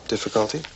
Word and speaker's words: difficulty: Difficulty. A ênfase está aqui no início da palavra.